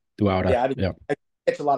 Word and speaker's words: Dauda: Dauda. Yeah, Dauda. Dauda.